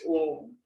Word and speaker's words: Om: Om is made up of A-U-M, A-U-M. You have to pronounce A for 2 seconds, O for 3 seconds, and Makar for 5 seconds. Correct? So pronunciation of that should be for longer times.